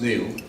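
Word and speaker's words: Niall: the great economic historian Neil Ferguson spelled Albert pronounced Neil has recently observed that there are three great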